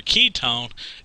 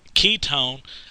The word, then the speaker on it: ketone: way that I remember Ketone Ketone uh sounds like the word key it's almost sounds the same you know and if